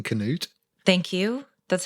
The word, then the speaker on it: Canute: right right right um well done for saying Canute thank you that's how it's pronounced it's not King Newt you've heard people say that before I've heard